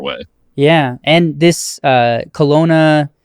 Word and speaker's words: Kelowna: yeah and this uh Kelowna is how you pronounce it Kelowna research facility so